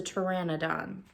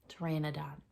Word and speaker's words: Pteranodon: about dinosaurs and I looked up how you say the name of that dinosaur and it's a Pteranodon Pteranodon I'll even link a